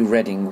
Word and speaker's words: Reading: and I'm thinking probably Reading would be the best. It might be a bit confusing for people that aren't from the UK, because Reading is spelt the same way as reading.